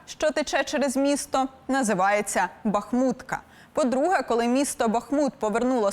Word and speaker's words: Бахмут: найчастіше помиляються українці певно в топі неправильне наголошування Бахмут чи Бахмут чимало українців усе ж обирають Перший варіант і впевнені в правильності вимови тож як казати щоб не помилитися деякі філологи все ж підтримують подвійний наголос Утім я все ж схиляюся до наголошування саме останнього складу адже по-перше річка що